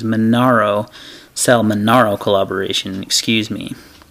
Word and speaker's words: Manaro: see the manaro and I think I've been saying Morano so my apologies manaro sell manaro collaboration excuse